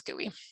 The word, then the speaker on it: GUI: a graphical user interface which sometimes people pronounce gooey um it is an